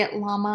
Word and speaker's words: Tony Lama: American optical Tony Lama I think you say at Lama I think that's how it's pronounced a great cowboy boot